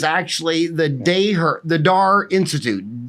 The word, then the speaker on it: Daher: the day her the DAR Institute da h ER but it's pronounced DAR right correct so it's